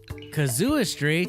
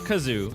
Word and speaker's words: casuistry: The church at the time was using a technique called casuistry Casuistry. or casuistry. Not kazoo. Oh. I tried finding out how to pronounce this, and it was difficult. That's okay. Casuistry. Yeah.